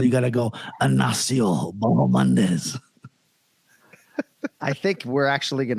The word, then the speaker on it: Bahamondes: Ignacio La Jaula Bahamondes. All right, so what the Chileans would like you to know, it's that second syllable, not ha, even though you see the H, right?